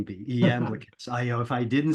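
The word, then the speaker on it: Iamblichus: sort of um you know spiritual theurgic is eamus on the Mysteries right this is available this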